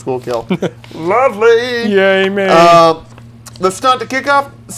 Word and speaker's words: Schuylkill: Oh, yeah, pronounced Schuylkill.